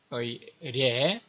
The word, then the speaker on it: 례: 마지막 세 번째로 체크할 한자는 종이라는 의미의 례, 첫 글자로 나올 때는 예라고 읽히게 되죠.